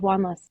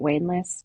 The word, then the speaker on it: Wanless: Both my names are mispronounced widely. Really? Um, yes, yeah, Wanless. It's very seldom said Wanless. I get Waneless, Wanless, so many variations on a theme.